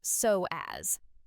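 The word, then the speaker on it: psoas: It's called the soas, pronounced soaz, and scientists now call it the hidden core.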